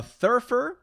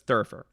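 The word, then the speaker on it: thurifer: tina b says a thirffer a thirffer a theriffer let me uh pronounce it better a thirfer the riffer but it's thurfer uh how is that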